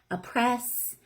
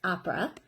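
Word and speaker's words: Apres: but it's spelled a-p-r-e-s you may hear it pronounced a couple different ways a press a pray i've heard it all different ways but the way that the maker pronounces it is opera so i'm just going to tell you about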